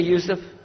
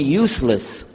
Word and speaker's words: Yousef: Did you say Yousef? You said Yousef. Yeah, very good. I wish you'd teach my wife. She keeps mispronouncing it. She calls me useless.